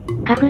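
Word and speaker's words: CAF: あのメーカーの発音は、カフらしいです。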